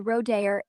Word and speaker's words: rodear: The Spanish word rodear is pronounced as the rodear is the last syllable, with a rolled R sound at the start, a soft D, like in day, and a clear R at the end.